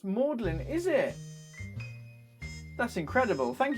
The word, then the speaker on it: Magdalene: it was a number Magdalene College Oxford is pronounced Maudlin is it that's incredible